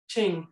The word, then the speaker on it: Qing: the Qing Dynasty -- is that how you pronounce it? "Ching". Qing, .